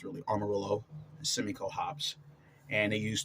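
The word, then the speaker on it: Amarillo: s Simco or SEMO or they have to pronounce Armarillo remember I used to started call I was calling it armadillo but it's really Armarillo semico Hops and they use tur row pale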